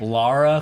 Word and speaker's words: Lara: I think Laura Croft. Laura Croft. It's Lara Croft.